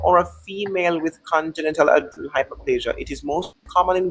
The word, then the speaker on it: hyperplasia: Just like the word for the umbrella term hyperlasia and like all it's not hypoplastia. No, it's not hypoplastia. You're pronouncing it incorrectly.